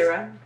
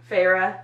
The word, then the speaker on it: Feyre: Because Feyre.